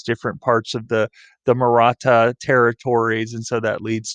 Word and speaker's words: Maratha: confederations one of the most famous was the maratha that's how you pronounce that there in the yellow the maratha confederation which was primarily a hindu uh dominant